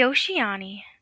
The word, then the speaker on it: Ushi-oni: Tonight, we're diving into one of Japan's most terrifying legends, the Oshiani. Pronounced O-shi-ani.